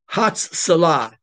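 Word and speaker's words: הצלה: And it's Hatzalah. Hatzalah. It's a long Hebrew word. Hatzalah is spelled this way.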